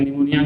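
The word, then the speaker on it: pneumoniae: निमोनिया, निमोनिया होता है Streptococcus निमोनी, Streptococcus, P silent है यहाँ पे, तो Streptococcus निमोनी and Haemophilus influenza.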